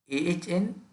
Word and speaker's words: entrepreneur: It is a very difficult word to pronounce. Entrepreneur. Entrepreneur. Entrepreneur. Some people say entrepreneur. It's a entrepreneur. Ahntrpruhpruhnur.